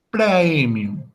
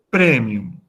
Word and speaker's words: praemium: Por lo tanto, esa palabra en latín clásico se pronuncia como praemium. Pero en la pronunciación italiana o eclesiástica se pronuncia como E, es decir, premium.